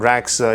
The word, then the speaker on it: Radxa: As you can see in this article, they are mentioning that Radxa, yeah, by the way, that's how it is pronounced. I just googled it. So apparently D is silent, and Radxa is a Latin word for root.